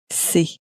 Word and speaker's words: c'est: You find a lot of English speakers will often pronounce it as something more like c'est, but it's not exactly c'est, but more c'est, c'est.